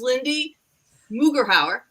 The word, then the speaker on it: Lindsey Mugeraur: I'm going to pronounce her name right. This is Lindsey Mugeraur.